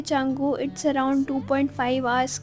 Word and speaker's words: Canggu: और मैंने पूरे वीडियोस पे चंगू को कंगू कहा है। प्लीज इग्नोर दैट बिकॉज़ मुझे स्टार्टिंग में प्रोनाउंसिएशन नहीं पता थी। तो इट्स चंगू इट्स नॉट कंगू।